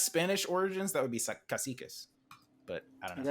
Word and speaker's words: cacique: tell you guys, called caciques. They're called, it's actually the Tiano word for like chieftain.